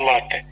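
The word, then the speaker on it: лате: натовпи туристів які смакують лати такий правильний наголос у нас від цього напою що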